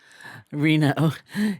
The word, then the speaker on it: Reno: nevada he's trying to teach me how to pronounce it reno he's the author of over 40 books and